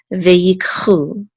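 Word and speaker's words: וְיִקְחוּ: It says u, so this is chu, ve'yikchu.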